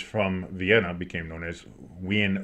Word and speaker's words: Wien: yeah well because you Vienna is spelled like w ien I think or we i n so uh it's we is how it's I believe it's said in the in the in the proper German in that area going